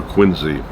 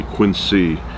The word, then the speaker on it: Quincy: I know some people say quiny but I like quiny it's just the way I like it now if I if I ever met him and he said that's not the way uh I pronounce my name it's it's Quincy I will call him Quincy but the way I grew up it was quiny no relation to quiny